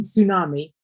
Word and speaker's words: tsunami: Yeah, the T is silent in tsunami. It's just pronounced tsunami, like an S. Okay. The T you don't hear. You spell it that way, but you don't pronounce the T.